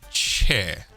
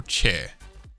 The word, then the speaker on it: chair: In the standard British accent, it is uncommon to pronounce the final R of most words. Rather, it is left open at the end. Some examples would be chair or chair, cover, cover, father, rather.